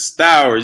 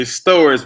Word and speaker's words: Stowers: You mispronounced my last name. It's Stowers. You say Stowers.